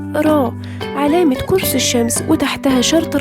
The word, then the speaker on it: r: تعني نفس صورتها بالظبط، فم الإنسان وتحته الشرطة يبقى دي كلمة فم وتنطق را.